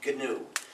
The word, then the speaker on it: GNU: If you call it please pronounce it GNU. Don't pronounce it new.